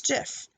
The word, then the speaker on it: Jif: do you pronounce jiff if you used a soft G like in jelly to pronounce the popular peanut butter brand you got it right if you went with a hard G like in goodie for those short shared looping videos you got that right - that is according